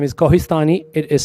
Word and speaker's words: Kohistani: My first name is but you can address me as and last name is Kohhistani. It is spelled as K O H I S T A N I N I.